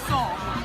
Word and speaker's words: Sol: Sol. Good beer for the soul. Okay, bad jokes. Go ahead. I was gonna say it's funny because in Spanish it's pronounced soul, like your soul.